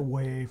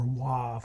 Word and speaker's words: WAV: Always record to like a WAV or WAV, however you want to pronounce it, W-A-V, record to that, or some other high quality lossless recording file.